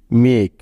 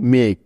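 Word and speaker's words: make: এম এ কে ই মেক খেয়াল করো এখানে ই ভাওয়েলটি শব্দের একেবারে শেষে আছে তাই তার কোনো উচ্চারণ হবে না অর্থাৎ কোনো সাউন্ড হবে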